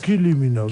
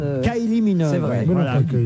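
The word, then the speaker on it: Kylie Minogue: kil minog Kylie minog vous dites peut-être k minog k minog k minog mais une fois qu'il avait la bonne prononciation non plus Ky minog Ky minog elle est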